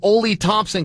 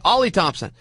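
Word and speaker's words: Oli Thompson: my IFB, and said, it's pronounced Ollie. I'm an idiot. Well, we both are. I mean, it's spelled O-L-Y. What do you want to do? Okay, Ollie Thompson.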